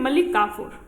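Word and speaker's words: मलिक काफ़ूर: इसका सही प्रोनाउंसिएशन है मलिक काफूर।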